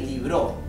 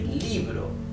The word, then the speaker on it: libro: We do not say libró, we say libro. The stress is on letter I, right?